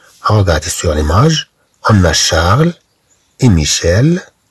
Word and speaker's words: Charles: Regardez sur l'image, on a Charles et Michel à la pêche. C'est-à-dire qu'ils vont à la pêche. Et d'un homme d'abou, il a assaid. Charles, CH se prononce ch, CH se prononce cha, Charles.